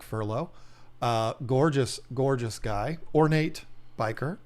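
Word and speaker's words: bichir: Ornate biker. I pronounce it biker. You might say Bishar, or you might be a weirdo like Tanner Serpa and call him Bishers.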